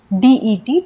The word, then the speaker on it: debt: Date में B silent है, इसे हम डेप्ट नहीं पढ़ते हैं, हम लिखते DEBT है, लेकिन डेप्ट में जो B होता है वो साइलेंट होता है, हम इसे पढ़ते हैं सिर्फ DET, डेट।